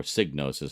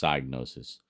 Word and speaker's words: Psygnosis: Oh, and there's Psygnosis, of course, or Signosis, however you want to pronounce it. I think it's Psygnosis, like psychic Psygnosis.